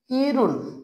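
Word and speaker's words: 일흔: কে বলা হয় ইরুন কি উচ্চারণ হবে ইরুন বুঝছো কারণ রিউন বাচ্চি এর পরে ডান পাশে হিউ থাকার কারণে এই হিউতের উচ্চারণটি হবে না রিউনটি উপরে যাইয়া অন্তস্থর উচ্চারণ হবে এজন্য উচ্চারণ হয়ে গেছে কি ইরুন তাহলে খেয়াল করো আশেকে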